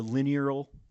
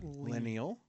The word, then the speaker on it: lineal: The linear how do you say that word, Travis? Lineal. Lineal. Thank you.